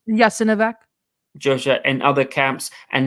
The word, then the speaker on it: Jasenovac: we were killed brutally in, what's that place pronounced? Jasenovac.